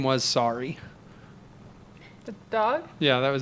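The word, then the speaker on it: Sarii: His name was Sorry. The dog? Yeah, that was his name. Sorry? It's like Saurii or something like that, but it's Sorry.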